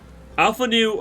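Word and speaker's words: Alphinaud: sure absolutely uh master alphanu I got this he's massive alphanol there's no one knew I think it's afternoon make the D is silent readings Alpha new and formula a Scion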